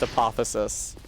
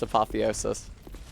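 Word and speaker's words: apotheosis: When I was in high school, a history teacher taught me that word was pronounced apothesis. Uh, but unfortunately, it it does seem to be pronounced apotheiois.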